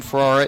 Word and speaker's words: Ferrara: His last name, Ferrara, is pronounced a little bit like Ferrari, which means it's no surprise that he actually comes from Tallahassee.